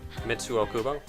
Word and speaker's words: Mitsuo Kubo: So now what I was actually going to mention before is all the other people, You pronounce it. Mitsuo Kubo, Thank you.